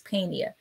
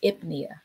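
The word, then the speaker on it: pnea: get those confused and pronounce that ebony as penia that's not penia that is ipnia okay and ipnia refers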